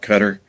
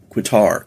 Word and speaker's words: Qatar: Israel strikes Qatar and they call it cutter K or K Q A T A R is how you pronounce or spell it and I always called it quqitar quar cuz you see